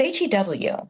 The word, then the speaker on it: Hugh: Well, it's Hew. How do you pronounce that?